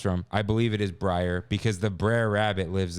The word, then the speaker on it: Brer: Like the way it's Briar.